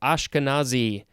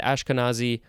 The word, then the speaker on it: Ashkenazi: Next we have Ashkenazi, capital Ashkenazi. And interesting how, and I never noticed this, the word Nazi is in Ashkenazi, although it's obviously not pronounced the same way.